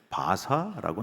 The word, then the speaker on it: 바사: 성경에는 바사라고 나옵니다. 왜 성경하고 세계사하고 발음이 다릅니까? 영어식 발음이고요. 이거는 히브리식 발음이기 때문에 다른 거예요. 네 번째 제국이 있습니다.